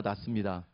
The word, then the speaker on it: 낫습니다: 옆에 있는 분에게 당신이 나보다 낫습니다. 그 발음을 잘 하셔야 됩니다. 지읒이 아니에요. 시옷입니다.